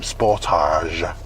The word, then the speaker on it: Sportage: light wasn't great there um sportage and that's how you pronounce that i'm sure if you're korean you might pronounce it differently i don't think it'll